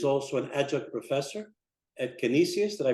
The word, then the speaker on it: Canisius: He is also an adjunct professor at Canisius. Did I pronounce that correct, Father?